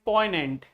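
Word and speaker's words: poignant: This is poant. This is poant. Poant. G is silent.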